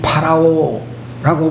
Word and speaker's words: 파라오: 여러분들 성경에서 말하고 있는 바로 어 좀 더 정확한 발음으로 이야기하게 되면 파라오라고 불리어지는이 왕은 애굽의 임금을 지칭하는 그런 칭호라고 알려져 있습니다.